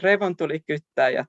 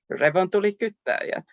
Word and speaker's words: revontulikyttäjät: In Swedish language, it means Aurora Borealis, of course, and the hottest question of the day, how is revontulikyttäjät pronounced? It goes like revontulikyttäjät. Now everybody repeat after me, revontulikyttäjät.